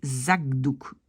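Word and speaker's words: zakdoek: Mais donc on va plutôt prononcer Zakdouk, G.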